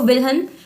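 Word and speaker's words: Wilhelm: बाकी एक और खास बात बता देती हूं, जो विलियम वुंड थे, इसमें ना डी साइलेंट हो जाता है, इसलिए मैं इसको विल्हन वुंड कह रही हूं।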